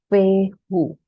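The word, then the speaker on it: Fehu: line This is called the symbol it is pronounced as feo now fu in the runic language means cattle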